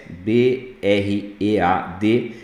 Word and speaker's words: bread: Pão em inglês escreve bread, B-R-E-A-D, mas pronuncia com som de E, bread.